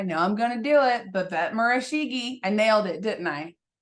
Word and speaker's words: Babette Murishage: name correctly I know I'm gonna do it B bet marigi I nailed it didn't I did I nail